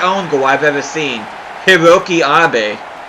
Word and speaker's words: Hiroki: Hiroki Abe. I added an extra syllable before. I thought his first name was Hiroyuki.